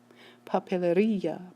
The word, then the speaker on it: papelería: Papelería, papelería, ría, instead of putting the stress here.